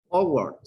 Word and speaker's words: awkward: Awkward, awkward. You don't pronounce W, no K. Those are silent.